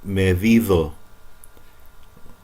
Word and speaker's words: medido: Han medido. D, when it's between vowels, like e, or o, D becomes like th in the. Medido. This is the one that you're graded on.